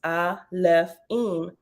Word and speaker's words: Alefim: the plural form that the plural alaphene pronounced I left in means elves stemming from